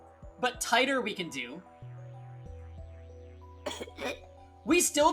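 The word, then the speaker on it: Titor: Teter is pronounced tighter. Oh, really? John Tider. Okay, I can do that. It's better. My My initial reading of it was titter. Uh, which that I was suggested to say teeter, but tighter we can do.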